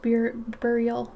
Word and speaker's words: burial: is baral burial burial it's like rural but I know I'm